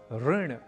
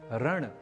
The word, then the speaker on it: ऋण: रूप में नहीं, अर्थात ऋण, ऋषि, कृषि, कृष्ण, संस्कृत, उपकृत, कृत्य, गृहीत जैसे कई शब्द हैं जिनका उच्चारण हमें रण या ऋण, ऋषि या ऋषि, कृषि या कृषि इत्यादि के रूप में नहीं करना।